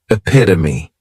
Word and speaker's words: epitome: next is epitome and this noun has four syllables and the stret pass is on that second syllable epitome this is a word that when you see it many times people may mispronounce it because the third syllable has that schah and the last syllable is that long EIT oh me what it